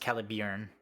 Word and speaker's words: Caliburn: which is uh it's spelled caliburn but it's pronounced calib it is the sister blade to Excalibur uh